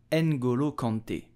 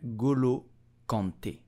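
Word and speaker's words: N'Golo Kanté: the French national team so how do you pronounce his name you will simply say Angulo Conte and Gulu Conte and Guru Conte did you know that despite being very rich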